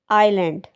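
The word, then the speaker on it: island: इसमें S silent होगा, इसकी करेक्ट प्रोनाउंसिएशन होगी आइलैंड.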